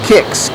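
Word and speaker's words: Qix: And then uh that one over there next to Spot right next to it is called Kicks. Q U Q I X kicks. That's how they That's how they pronounced it and spelled it.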